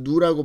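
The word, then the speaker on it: ν: 여기서 누라는 것은 그리스 알파벳이고 이거는 우리 발음으로 누라고 발음하고요.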